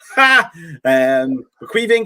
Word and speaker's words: Caoimhín: And I said that correctly, by the way, because he's from my country and I know how to say his first name. Caoimhín Kelleher pulled out.